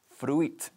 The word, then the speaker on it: fruit: Fruit. No se pronuncia así. Se escribe fruit, pero decimos fruit con una sola sílaba y con una T bastante fuerte al final, ¿ok?